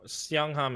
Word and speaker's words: Siangham: This is a steel Seongham. Seongham is spelled Siangham.